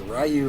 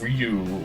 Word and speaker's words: Ryu: can do is a rayu vers rayu match like that is that is chess of fighting me uh actually it's uh pronounced Ryu for sure wow this